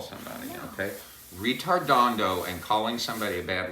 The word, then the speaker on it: ritardando: were so fond of do not laugh when I say the word okay because it sounds like the word that's not a nice thing to call somebody okay this word is Italian